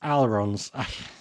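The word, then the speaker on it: allons: from what I understand I'm not supposed to pronounce the L so it's alons alons I'm terrible absolutely terrible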